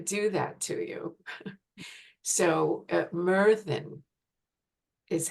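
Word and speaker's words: Myrddin: didn't want to do that to you so Merin is how it's pronounced and meran is um the Welsh um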